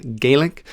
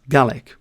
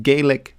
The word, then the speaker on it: Gaelic: before we get started, GA is the correct pronunciation. There's always one person in the comments who says actually it's Gaelic. The thing is when we're talking about Scottish Gaik as it's called, we pronounce it as Galick.